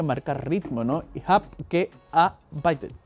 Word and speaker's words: gearbeitet: Se vuelan la E, ich hab gearbeitet. Gearbeitet. Beitet es como el B, es como casi una B, beitet.